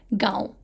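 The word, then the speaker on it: گاؤں: It's not ga, vu, right? It's not va. So it's gaon.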